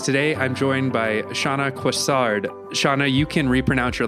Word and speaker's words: Coissard: And it's Shaquh.